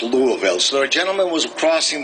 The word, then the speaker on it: Louisville: hey how you doing and it's it is pronounced Louisville right not Louisville or Louisville Louisville my wife and I had I had